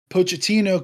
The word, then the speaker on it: Pochettino: And then you mix that with Pochettino coming in, right?